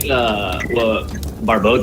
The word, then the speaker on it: Barbod: No, it's pronounced Barbod. So just like Barbie, but with an odd at the end.